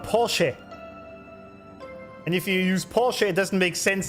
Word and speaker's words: Porsche: It's not Porsche. It's called Porsche.